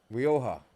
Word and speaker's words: Rioja: Rioja. Yes. Yeah. Yes. Yeah, Jay Silent.